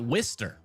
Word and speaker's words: Worcester: It's pronounced wister and it got eight light.